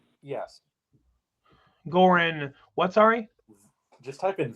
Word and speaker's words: Goran: I don't know how to pronounce how to speak. Okay, Goran. Is that what the G? Yes. Goran.